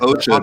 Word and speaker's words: osha: So they yeah, it's like OSHA, just like the government organization, OSHA.